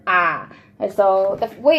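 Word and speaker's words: ㅏ: for us but you would pronounce it as aa it looks like this oh and then they have a fancy little picture and it had like an arrow hitting him and they said ah so that's way it's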